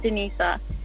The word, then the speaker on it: Denisa: Hello, Denisa. You're now live with all of us. How's it going? I'm good. How are you? And it's pronounced Denisa.